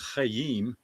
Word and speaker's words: Chaim: To pronounce it in Hebrew is Chayyim but it was so cool and we just said, well they kept saying we love you Chaim.